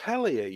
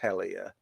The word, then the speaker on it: Hellyer: stuff, and there's that Paul Hellier, who's spelled Hellyer, but I suppose it's pronounced the same.